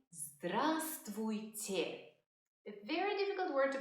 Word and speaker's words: Здравствуйте: You would say Здравствуйте. A very difficult word to pronounce, so let's break it down. Say те. Те. Say твуйте. Твуйте. Say здравствуйте. Здравствуйте.